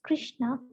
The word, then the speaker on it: Krishna: mantra hari krishna krishna krishna krishna hare rama pronounced krishna and brahma rhymes with drama are sanskrit words